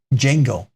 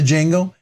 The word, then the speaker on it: Django: Rob, just wanted to let you know that the Django pronounced Django. The Django. It's not Django. It's not the Django. It's Django. My last name is pronounced. So, and it's pronounced the Django. I did it. Django. It's pronounced just Django. The D is silent. In other words, the D is silent. It's just Django.